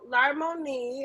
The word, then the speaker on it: Larmonie: So you can find me at Larmoni. I know it's like a little hard to pronounce, but it's spelled LARMONIE _ So, which is also in the description.